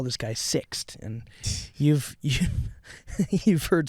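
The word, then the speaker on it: Sixt: what's up my name name is six it's spelled s ixt and I was like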